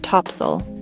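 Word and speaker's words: Topsail: to introduce you to Topsale Island. Pronounced topsel.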